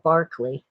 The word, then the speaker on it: Berkeley: I was thinking of Bishop Berkeley, or if you're English, you'd say Barclay, but it's spelled the same.